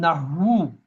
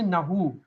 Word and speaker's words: nahw: In writing, we say nahu. In pronunciation, this ha is silent. Just like no. In no, this kaf, the K is silent. You say it's no. You never say kano.